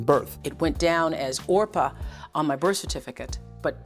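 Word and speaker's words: Orpah: it went down as orpa on my birth certificate but people didn't know how to pronounce it they put the P before the r in every place else other than the birth certificate they had trouble with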